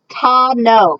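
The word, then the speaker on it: tano: 5, Ta no.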